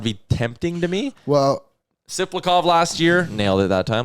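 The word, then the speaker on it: Tsyplakov: Someone threw out the Maxim Tisplakov deal from the Islanders. Isn't it Siplakov? I believe the T is silent.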